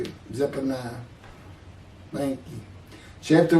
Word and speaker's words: Zephaniah: Zephaniah, Zephaniah, I'm not sure how to say it. Zephaniah.